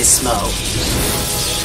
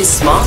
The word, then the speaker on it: Smough: Or some people say Smough. I say Smough because there's another character in this named Goth, spelled the same way.